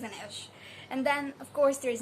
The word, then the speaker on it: Inej: i called her name i guess i called her image or image but after watching the show so she's an ish and then of course